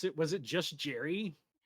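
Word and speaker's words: Jeri: Was it just Jerry? No, it's Jerry because I literally looked it up. It is pronounced Jerry. It's spelled very differently.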